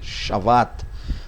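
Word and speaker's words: שבת: então aqui tá chavada se você for pronunciar seria um ver chavat ok então deus descansou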